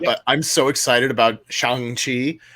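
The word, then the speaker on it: Shang-Chi: i'm so excited about xiang chi um as i have now been corrected to pronounce it uh because i love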